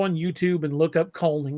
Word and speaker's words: Kulning: And you can go on YouTube and look up culling, which is spelled Kulning.